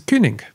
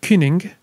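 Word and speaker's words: cyning: as our word king that letter y by the way represents the e sound as in german uber or french lin the word kining is related to the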